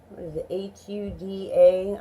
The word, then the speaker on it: Huda: I don't have any hooter Huda I'm assuming it's pronounced Gouda I don't have any